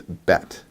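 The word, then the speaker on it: ב: the dot and without this dot is called the dog eesh and it changes the pronunciation of the bet so when it has the dog ich it's a hard B sound but without it's a softer v sound alright so but but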